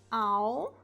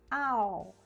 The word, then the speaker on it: I'll: E reparem na pronúncia, olha, a gente diz I'll, I'll. Eu quero falar sobre o L aqui, o som do L no inglês, tá?